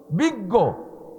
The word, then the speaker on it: বিজ্ঞ: বিজ্ঞ। বয়রসি বর্গজ হসন্তার সাথে ইয়ে লাগাই দিলি বিজ্ঞ হয়। তা বিজ্ঞ কতি যে গ উচ্চারণ হচ্ছে, ইয়ে আর জ্বর মধ্যে গ কো।